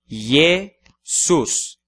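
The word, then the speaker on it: Iesus: palavra de duas sílabas yesus na primeira sílaba temos a letra i precedendo a vogal e portanto I consonantal o terceiro exemplo é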